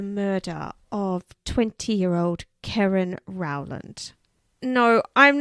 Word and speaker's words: Keren: siobhan yeah okay well i'm not mispronouncing it it is karen just so we get